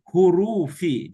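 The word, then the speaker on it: حُرُوفِ: Min, nah ini tadi hurufi. Jadinya ini bacanya hurufi.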